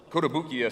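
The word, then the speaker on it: Kotobukiya: we have these beautiful kota bukia and that's how you say it kodabukia statuettes we not only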